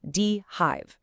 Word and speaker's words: dHive: And by the way, it's pronounced Dehive.